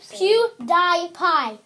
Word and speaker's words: PewDiePie: in a way PewDiePie PewDiePie that's actually how it's pronounced PewDiePie yes Pew Die Pie